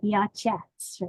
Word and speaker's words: Yachats: about where we live, it's spelled in a funny way. It's Yachats. And so if you're looking for it on the map, you know, it's not spelled phonetically. It sounds like Yachats, really.